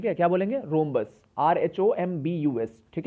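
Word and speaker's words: rhombus: रूबरू मत बोले हम इंग्लिश में क्या बोलेंगे रोंबस आरएसओ एंबूलेंस ठीक है यह यहां पर साइलेंट होता है तो समचतुर्भुज को कैसे डिफाइन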